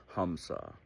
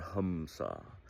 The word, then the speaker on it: Hamsa: And while we're breathing in and out, we're unconsciously saying a mantra, Hamsa or Hamsa. Now, hum, it's spelled H-A-M, but it's pronounced hum, is short for ahum or I.